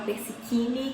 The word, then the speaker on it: Persichini: Se você não me conhece, muito prazer, meu nome é Persichini, que se escreve Persicini e fala Persichini.